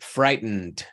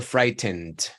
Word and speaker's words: frightened: porque es muy común, siendo que esta sílaba acá no está acentuada, la que está acentuada es esta, fright.